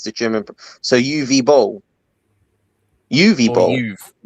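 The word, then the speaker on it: Uwe Boll: Um, the W in UI is pronounced like a V. It's the German. So, UV bowl, UV, like UV light.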